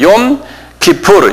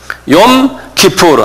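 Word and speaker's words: יום כיפור: 욤 기프르. 요건 그 통째로 그냥 외우셔야 돼요. 욤 기프르. 한 발음해 보세요.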